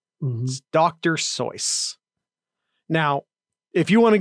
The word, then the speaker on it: Seuss: with voice dr seuss's last name actually rhymes with voice dr soyuz now if you want